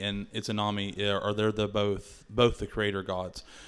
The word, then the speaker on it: Izanami: So Izanagi, and Izanami, I think is how you say both of them.